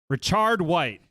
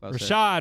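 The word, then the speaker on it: Rachaad White: okay great um can't wait for you to pronounce his next name richard white not even close richard white not oh we're getting a look rashad there it is rashad there it is so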